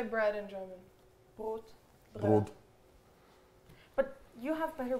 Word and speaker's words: Brot: Brot.